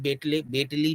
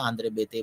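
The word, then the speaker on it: Béteille: जो आंद्रे बेते हैं, जिन्हें बेटली भी आप किताबों में हो सकता है बेटली पढ़ा हो मिले, तो मैं आंद्रे बेते बोल रहा हूँ, उनका जो प्रोनाउंसिएशन है आंद्रे बेटली भी कह सकते हैं।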